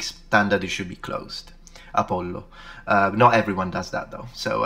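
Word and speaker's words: Ἀπόλλων: Apollon. Apollon. So there is an N. And, yeah, there's an N, and the N is usually taken away in Latin, so just Apollo.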